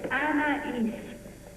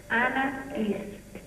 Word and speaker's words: Anaïs: It's Anaïs. Anaïs. Anaïs.